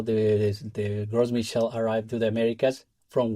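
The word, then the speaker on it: Gros Michel: You mentioned the Well, let me make sure I'm pronouncing it correctly. The Is it the Gross Michel? Yeah, Gross Michel, Big Mike. Gross Michel because it's is is is French, but there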